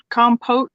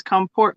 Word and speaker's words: compote: one of those okay we just don't spell it with an r but we just pronounce the r no pot compo p-o-t-e versus comport p-o-r-t yeah but nobody ever